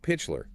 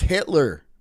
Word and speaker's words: Hitler: So Pitchler, he was a member of the Nazi Party, but later It's pronounced Hitler. Hitler. God, AI can never pronounce Hitler.